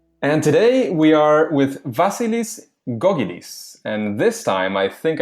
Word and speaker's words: Vasilis Gkogkidis: engaging learning materials and today we are with vasilis gogis and this time I think I did say